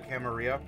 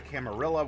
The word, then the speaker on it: Camarilla: wisdom of the Camarilla, or if you prefer the Camarilla. That's how I quote unquote grew up learning how to say it. So it's difficult for me to auto default to Camarilla with the hard L's. Not that that's an improper pronunciation.